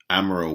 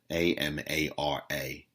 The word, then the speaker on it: Amara: yesterday from their reporter amaral walker a-m-a-r-a first name last name walker i believe you pronounce her name amara um i don't think it's amara i think it's amara